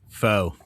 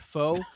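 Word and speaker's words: Pho: I believe it's fah. Andy and Steven are correct. It is fah. One syllable Vietnamese rhymes with doc. Not foe nor fee.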